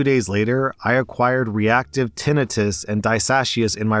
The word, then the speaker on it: tinnitus: Also, to everyone listening, I know you're about to type, oh my god, rSlash, it's not pronounced tinnitus, it's pronounced tinnitus. Actually, you're wrong, it is pronounced tinnitus, look it up.